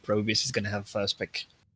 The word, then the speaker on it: Probius: uh yellow owls okay so pro pro bus no probius stop yourself okay probius i need to need the team actually to tell me how it should be pronounced but let's stick with probius listen i've already spoken to them and it is probius okay my bad then